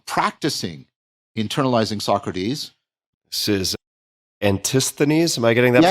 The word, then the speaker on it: Antisthenes: This is Antisthenes. Am I getting that pronunciation right?